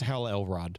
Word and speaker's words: Hal Elrod: It's Hal Elrod.